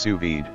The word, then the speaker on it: sous-vide: Anova Culinary Sous-Vide Precision Cooker Nano Bluetooth 750W Anova App included. Perfect results every time, never over or undercook your food again. The Anova Precision Cooker Nano Sous-Vide, pronounced sous-vide, circulates water at the exact temperature required for